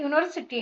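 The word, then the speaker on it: university: अभी यहां पे यूनिवर्सिटी है। तो इसका जो शुरुआत है यू है। यू तो वोवेल है। फिर यहां पे ए क्यों लिखा है? क्योंकि यू जो है उसको यहां पर यूनिवर्सिटी में उसका प्रोनाउंस वाई यू ऐसे होता है।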